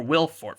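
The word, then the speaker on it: Will Forte: come into the play will fort i think well it's a silent e but he's still called willy or will fort for sure for short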